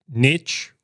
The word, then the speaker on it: niche: start again all right Niche rhymes with Rich for a reason all right expand expand